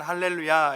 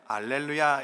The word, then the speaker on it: 알렐루야: 근데 이 단어가 헬라어로 번역이 되게 되면 이 히읗 발음이 약해져서 알렐루야가 되는 것입니다. 그래서 찬양곡을 보면 어떨 때는 할렐루야 이렇게 부르기도 하지만 어떨 때는 알렐루야 이렇게 하기도 하는 것이죠.